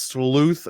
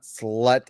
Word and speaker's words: Sleuth: Oh my god, Arwen said, "Digimon, it's pronounced sleuth, not slut."